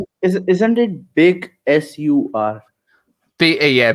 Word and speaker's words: Big Sur: is it isn't it big sur yeah big sui yeah it's pronounced sir though it's the same no